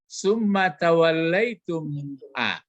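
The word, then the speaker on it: ثُمَّ تَوَلَّيْتُمْ: Coba kalau dibaca summa tawallaitum. Kalau mim sama mim itu yang didengungkan kalau membacanya. Summa tawallaitum. Min pun bertemu dengan mim.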